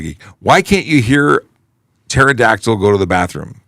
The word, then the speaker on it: pterodactyl: why can't you hear pterodactyl go to the bathro because the PE is silent yeah I like it